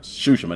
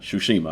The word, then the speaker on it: Tsushima: And it's pronounced Tsushima, not Tsushima.